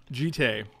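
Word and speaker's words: Jitte: Jitay. Yeah, it is Jitay. People like calling it Jit, though, because it sounds funnier.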